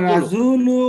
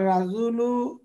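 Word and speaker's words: الرجل: সাদিক ভাই পড়েন জি এরপরে সেকেন্ডটা হ্যাঁ আর রাজুল ওয়াকিফুন মানুষ লোকটি দাঁড়ানো ইয়েস আর রাজুলু আর রাজুলু এখানে আরেকটা কথা রর উপর রা ফাতা দিলেও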